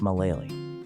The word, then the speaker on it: Malealea: Now travel 4 hours south to Malealea, pronounced Malah-lay-lee. You pass through a mountain entrance where an English missionary placed a sign in 1900 that still remains today.